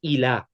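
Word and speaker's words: إلى: Now remember, I told you the pronunciation of this word ila, that there is called the alif maksura. This here is an alif maksura. My translation, a dotless ya. A dotless ya. So if you write it, the pronunciation is like this. Ila. That's how you pronounce it. So on its own, it's ila.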